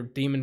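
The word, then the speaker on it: dæmon: It's daemon, but they pronounce it demon because it's European.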